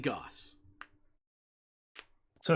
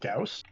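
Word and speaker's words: Gauss: no AP gos so some folks pronounce it Gus I actually find I switch pronunciation depending on the weapon like I'll call it an AP Goss but I'll also call a hag a hyper assault gaus interesting there's no internal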